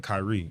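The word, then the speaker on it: Kyree: It ain't spelled like people normally do. So, my middle name Kyrie.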